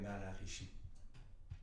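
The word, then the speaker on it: Maharishi: 70 il y a ça s'appelle l'effet maraîchers mais la prononciation c'est ça c'est l'effet mais à la Richie ça dit que pour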